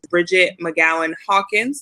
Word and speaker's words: Bridgett McGowen-Hawkins: bit more about her later, as well as Bridgett McGowen-Hawkins.